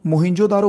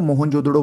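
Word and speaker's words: मोहनजोदड़ो: पर मोहिन जोदारो देखो मोहिन जोदारो बोलो या मोहन जोदड़ो बोलो कुछ भी जो आप अच्छे से प्रोनाउंस कर सको 1922 में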